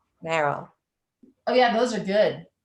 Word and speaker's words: Merrell: Merrell. Merrell.